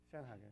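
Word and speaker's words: Schönhage: Very impressive to hear it pronounced correctly, too. Schoenhager, yeah.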